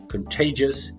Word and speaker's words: contagious: body and cause sickness contagious also middle syllable stress contagious it spreads from one